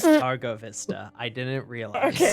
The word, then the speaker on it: Targo Vista: Targo Vista.